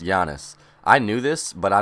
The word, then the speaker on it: Giannis: that I was saying I was saying giannis literally the whole entire time we had him but it's pronounced Yanis I knew this but